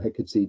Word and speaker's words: Hecate: Greek goddess of witchcraft in Hecate, or Hecate, depending on how you want to pronounce it.